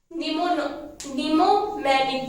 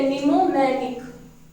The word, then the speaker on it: mnemonic: निमोमैनिक, ठीक है, निमोमैनिक। Am silent रहता है इसमें, वैसे इसकी स्पेलिंग होती है MNEMONIC, ठीक है।